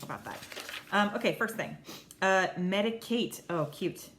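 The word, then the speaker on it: Medik8: Medicate. Oh, cute. It's because it's spelled MEDIK and then the number 8.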